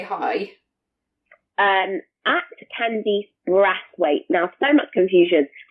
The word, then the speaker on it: Brathwaite: hi um at Candy brass weight now so much confusion so it's not brace weight there's no I in the first syllable so just b r a t h w a i t e at candy spright on Instagram and ww.